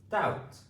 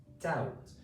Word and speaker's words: doubt: Doubt. d ou t Doubt.